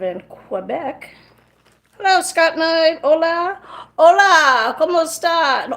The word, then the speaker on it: hola: Hola. Hola. ¿Cómo está? And hola actually has an H at the beginning, which is silent.